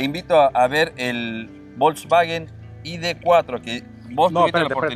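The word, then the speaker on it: ID.4: Lo van a pronunciar mal. Es ID4.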